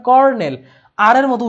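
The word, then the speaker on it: colonel: কর্নেল, যদিও আমরা বলি কর্নেল, কিন্তু উচ্চারণ হবে, মানে স্পেলিংটা হবে COLO, ঠিক আছে? উচ্চারণ কিন্তু কলোনেল হবে না, উচ্চারণ হবে কর্নেল, আর এর মতো উচ্চারণটা হবে, বাট স্পেলিং হবে এরকম।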